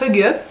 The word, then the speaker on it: hygge: ça s'écrit hi ou hig mais ça se prononce HUG l'art du bonheur à la Danoise le guide